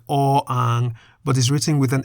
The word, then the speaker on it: อ อ่าง: of the letter, which or ang does not have. That is the consonant or ang, which we can summarize as a consonant that is always silent at the beginning of a syllable.